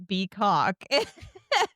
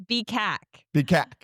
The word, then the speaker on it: BCAC: No, it's not BCK. It's Bac.